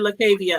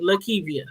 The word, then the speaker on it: Lakivia: I'm sorry, I said Lakavia. I'm sorry, Lakivia.